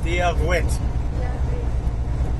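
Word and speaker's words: Dia duit: Dia Gwit.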